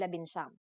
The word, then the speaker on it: labinsyam: For the letters D, L, R, S, and T, the G from NG is dropped to make it easier to pronounce. Labindalawa, labintatlo, labinlima, and labinsyam.